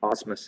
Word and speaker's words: Osmus: Is that how I say her name? Osmus? Yeah, Osmus, yeah.